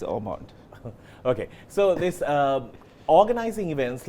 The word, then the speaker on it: Ormond: So it's mispronounced all the time. So some people are like Hotmondu, and some people are like Ormond. I'm like, no, it's Ormond.